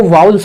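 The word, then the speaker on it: vowels: सर आप एक बात ध्यान रखें, कुछ बच्चे इसको वोवेल बोलते हैं, वोवेल। ऐसा लगता है जैसे उल्टी करेंगे वो, नहीं बच्चे इंग्लिश को एक्चुअल सही सीखो। ये जो वोवेल नहीं होता मेरे भाई, इसको एक्चुअल प्रोनाउंसिएशन इसका किया जाए ना, वो वाउल्स होता है, वाउल्स। सर इसको किस तरह से बोला जाएगा सही तरीके से? इसका करेक्ट प्रोनाउंसिएशन क्या होगा? इसका करेक्ट प्रोनाउंसिएशन होगा मेरे भाई वाउल्स।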